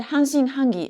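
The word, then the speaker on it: 半信半疑: Yeah, hanshin hangi.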